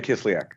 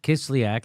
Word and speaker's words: Kislyak: Sergei Kislyak. Kislyak.